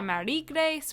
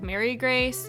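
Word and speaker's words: Marie-Grace: I know some people want me to call her Marie Grace, which is like French, then some people are like Mary Grace, so I'm just gonna kind of switch up my pronunciation, say whatever feels the most natural to me. I think most people just say Mary Grace in the community.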